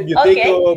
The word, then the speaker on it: Buteyko: It's actually a Russian name, so I don't know how the Russians pronounce it. You should say Buteyko, okay.